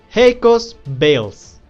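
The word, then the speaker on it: Hakos Baelz: rank haco's Bells okay let me say it correctly because her name is a little bit difficult hecos bales that is the way you pronounce that name okay whatever so bills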